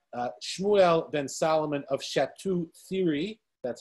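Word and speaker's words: Château-Thierry: next we have uh shmuel then solomon of shatu theory that's how you pronounce it um another french tosuphis and finally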